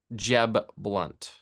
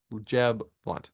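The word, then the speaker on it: Jeb Blount: is I love the cover artwork um of Jeb blunt Jeb blunt it's spelled Blount o u but je blunt is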